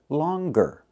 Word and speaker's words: longer: But with the word longer, we pronounce the g, longer.